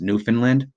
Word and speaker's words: Newfoundland: a Newfoundland a Newfoundland it looks like Newfoundland it's pronounced Newfoundland Google that breed right